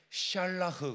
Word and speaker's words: 샬라흐: 그래서 제가 이제 영적인 의미를 더해서 말씀을 전하는데 이 던지라는 말은 히브리어로 샬라흐 그럽니다. 한번 합시다. 샬라흐. 사실 흐 발음은 가래침을 뱉는 발음이어야 돼. 샬라흐 이렇게.